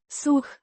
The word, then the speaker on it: să: Pronounced. Suh. The sound is short and similar to the English word so, Mergi.